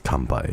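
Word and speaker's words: 乾杯: I think it's kanpai. Yeah, that's the kanpai.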